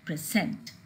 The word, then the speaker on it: present: export, to improve, to present. These are the verbs with the prefix and the stress is on the second syllable.